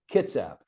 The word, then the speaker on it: Kitsap: Because now we say, it's my sense is emphasis on the first syllable, Kitsap, right?